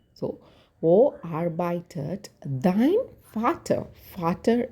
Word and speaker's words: Vater: Vater is father. V should be pronounced like F.